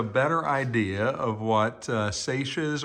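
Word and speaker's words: Sacia's: idea of what uh saches or sashes or cecias I've heard it pronounced three different ways but I believe it's uh Sasha's book Emporium and it's just a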